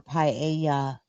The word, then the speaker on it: paella: I'm not sure if that's how you pronounce it. At the party. It's pronounced paella.